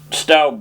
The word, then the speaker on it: Stoupe: And of course I'd always known Browside and Stoupe, which is curious in that it's spelled S-T-O-U-P-E, but is always known as Stoupe.